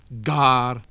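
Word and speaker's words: gār: The letter G had what is often called the hard sound before A, O, U, and sometimes Y, as gar, spear, goad, good, gülden, golden. And it was always sounded in the group NG, so singan, to sing.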